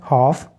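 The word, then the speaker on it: half: जब आएगा नेक्स्ट है हाफ और हमने पढ़ा कि एफ से पहले एल आ जाए तो एल जो है वह साइलेंट हो जाता है हाफ का मतलब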